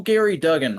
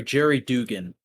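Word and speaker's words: Gerry Duggan: __ ] that's uh that's still gary duggan right so yeah or i'm sorry jerry dugan i was correct i was corrected on the uh pronunciation on a previous episode of this show i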